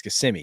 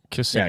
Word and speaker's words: Kissimmee: It's Kissimmee, yeah? Kissimmee. Yeah, Kissimmee. Okay.